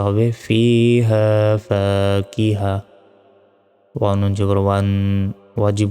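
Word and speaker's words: فاكهة: আলিফ জবর ফা, কবজের কি, হা জবর হা, তা দুই পেশ তুন, ফাকিহাতুন। থামলে এখানে গোল তার উচ্চারণ হবে না, ছোট হার উচ্চারণ হবে। উচ্চারণটা হবে ফিহা ফাকিহা।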